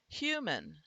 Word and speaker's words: human: Human, I'm the A happens to be there, but we're not pronouncing it as human or human. We're not really making a schwa sound. We're simply going from the m to the n, and in there the n is syllabic.